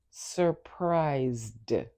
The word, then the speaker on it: surprised: In its past form, the final ed D sounds like D. So it's surprised.